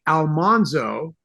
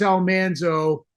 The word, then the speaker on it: Almanzo: on television and I can't explain how we mispronounced the name but we did say Almanzo but I listened to a recording of the